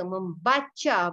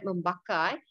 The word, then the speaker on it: membaca: Dia suka membaca buku. Pronounce C, sound of C. Membaca, not membakar.